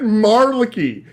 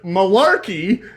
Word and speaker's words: malarkey: did he say Mary he said Marley he that is not any definition like pronunciation of the word Malarkey that I've ever heard ever in my life that was supposed to